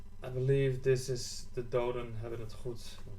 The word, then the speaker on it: Doden Hebben het Goed: I believe this is the Doden Hebben het Goed 1. And that's how you pronounce it.